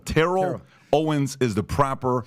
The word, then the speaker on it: Terrell: Terrell Owens say it Terell ter like Cheryl Terell Owens is the proper pronunciation not Terrell and by the way